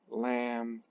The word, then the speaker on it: lambda: mark across is and tell you how you pronounce that lambda that is the wavelength of light okay and